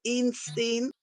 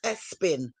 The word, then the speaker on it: Epstein: Prince Andrew was friends with, how you say it, Einstein? It's Espin. Prince Andrew was friends with